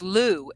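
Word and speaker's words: Lugh: is luge persistence through persist pronounced Lou l-o-o but it's spelled l-u-g-h okay Lou through persistent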